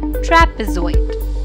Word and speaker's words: trapezoid: a as trap-trap pay Zoid so the correct pronunciation of the word is trapezoid Pentagon is a flat five sided shape with